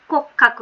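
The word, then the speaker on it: 骨格: এটা হচ্ছে কোক্যাকুটা হচ্ছে সরি কিয়াকু না, হ্যাঁ এটা হচ্ছে কোক্কাকু, হ্যাঁ কোক্কাকু হবে এই উচ্চারণটা, এই যে এটা কোক্কাকু,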